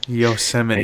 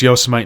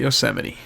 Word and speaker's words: Yosemite: I thought it was Yosemite until a year ago when I said it in front of my parents, and then they made fun of me for saying it wrong.